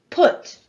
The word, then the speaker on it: put: loud p u t the letter u stands for the sound in this word doesn't it and that's kind of irregular for that letter isn't it but what